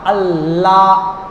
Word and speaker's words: আল্লাহ: এবং লাম আল্লাহ বলতে লাম লাগে ওই লামের উচ্চারণ করতে গেলে জিহ্বার উপরের মাটি যেটা জিহ্বা আছে এবং মুখের উপরের মাটি মাটি যেটা এই মাটির সাথে জিহ্বাটা একটু লাগে আল্লাহ আল্লাহ লাগে না একটু